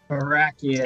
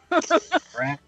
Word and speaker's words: Barakians: Stop mispronouncing my name. Barakians. It's almost like Barack Obama. Barak.